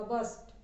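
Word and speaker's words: burst: अब वो आर को अपने आप बोलते जाओगे ना तो अपने आप थोड़ा साइलेंट हो जाएगा, बर्स्ट, ठीक है, आर हल्का सा आता है वो।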